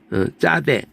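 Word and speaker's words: צדי: 짜대. 이 짜대 할 때 쌍지읒으로 하는 게 좋아요. 그래서 쌍으로 함으로써 구분을 하는 거야. 이걸 갖다 그냥 어떤 사람은 차대라고도 하는데 잘 들어보면 차라고 발음하진 않아요.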